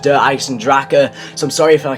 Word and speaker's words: Der Eisendrache: say do I Sandra and it's not actually pronounced do I sandrak it's pronounced derives and Draka so i'm sorry if i keep on pronouncing